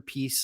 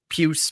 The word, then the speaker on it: Pius: And, Peace Suter or Pius Suter, Peace, I think is how you're meant to pronounce it. Puce, maybe.